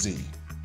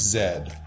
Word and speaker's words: Z: But for the record, it's Z. And I don't want to hear from my Canadian brothers and sisters that it's zed. I need the letter Z to rhyme with now I know my ABCs or the song doesn't work.